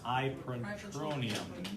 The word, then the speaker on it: ipratropium: Albuterol and Atrovent, and we know Atrovent is, I can't pronounce it, ipratropium. There you go. Start I-P-R-A-T-R-O-P-I-U-M. Sound it out.